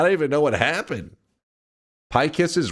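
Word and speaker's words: Pykess: Pykiss is right. Usually it's spelled P-Y-K-E-S-S.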